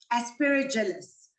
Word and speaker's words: Aspergillus: Woeller, the first question is from a parent who says, what is the best treatment to eliminate the mycotoxins produced by Aspergillus? I hope I pronounced that correctly.